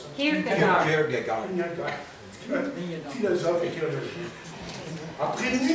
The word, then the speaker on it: Kierkegaard: Comment on prononce ça? Kierkegaard.